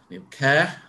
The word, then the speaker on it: Neil Ker: you uh and bill congratulations also on your pronunciation of uh new care over the ages uh the memories of how